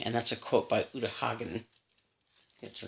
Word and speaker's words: Uta Hagen: And that's a quote by Uta Hagen.